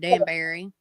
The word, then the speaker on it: Danbury: We call it Danbury. So some people say it Danbury, or it's Danbury is the way we pronounce it.